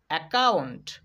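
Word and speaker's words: account: এসি অ্যা, COUNT, কাউন্ট, কাউন্ট, অ্যাকাউন্ট, অ্যাকাউন্ট। খেয়াল করো এখানে কিন্তু দুইটা সি পেয়েছিলাম, এখানে কিন্তু ক উচ্চারণ করিনি। আমরা প্রথম সি এর উচ্চারণ করিনি, দ্বিতীয় সি এর উচ্চারণ করেছি এই জন্যই, কারণ সি এর পরে ও রয়েছে।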